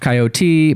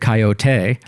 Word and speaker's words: Coyote: Initially, it's most often pronounced Coyote, but in 2 cartoon shorts, he pronounces it Coyote. French. It just says with a diphthong.